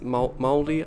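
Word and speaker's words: Māori: It's moldy, I think you say moldy, not Maori.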